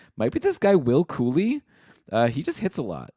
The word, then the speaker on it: Cuylle: And also, it's spelled Cuylle, and I was told that is pronounced Cooley.